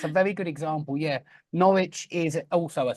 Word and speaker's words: Norwich: is pronounced norit yeah norich exactly norwi there's no W done for now norwi you're Absol absolutely that's a very good example yeah Norwich is also a silent